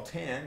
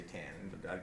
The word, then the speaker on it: tan: the tangent of a which we call Tan and you can just say tan you couldn't say anything else for this other than tan is the length of